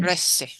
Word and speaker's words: trece: 12, 13, Trece. Trece. It sounds like tres, but it gets an e tacked onto the end. Trece. Trece. Trece.